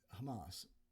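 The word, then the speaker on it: חמס: This word violence right here is the Hebrew word Hamas. It's spelled the same way and it sounds the same way.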